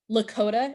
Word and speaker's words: Lakota: Big Horn two leaders of the Lota tribe Lakota is spelled l a k o t so two